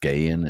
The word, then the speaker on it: Skagen: very interesting company called Skagen which is skan designs which is actually pronounced skan in Danish I got it oh